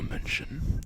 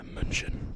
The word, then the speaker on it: München: Okay, another place I've been down here is Munich or München, if you are saying it the way it's said in Germany. It's München, but Munich, obviously home of probably the most famous German football team, Bayern Munich.